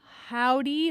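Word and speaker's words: Hovvdy: we have heard, let's see, well, right now we're listening to Pedal by Howdy, but it's spelled H-O-V-V, W.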